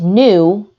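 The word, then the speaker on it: ν: And V, or pronounced nu, is frequency, and that's measured in hertz.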